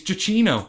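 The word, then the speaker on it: Giacchino: name it's Michael Gino not Gino no it's jino that's say your stage name we are now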